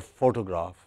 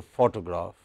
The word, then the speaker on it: photograph: So, let us for instance look at this word photo or photograph. It has stress on the first syllable, pho. Okay. Whether you say photo or you say photograph, it is stressed on the first syllable.